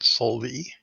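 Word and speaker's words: Solveig: spelled k-o-t-e-n-g what cutting solvey is spelled s-o-l-v-i-e-g but it's enunciated solely her daughter is six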